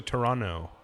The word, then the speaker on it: Toronto: yeah Drake's Toronto dinosaurs it's actually Toronto righto no there's no tea in this in the pronunciation I was told by a Canadian but there's a tea when you spell it right yeah it's kind of